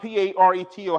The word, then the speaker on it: Pareto: Stop Believing negative reports this is paratos hot p-a-r-e-t-o how you pronounce that t-a-r-a-t-o the 80 20 the 80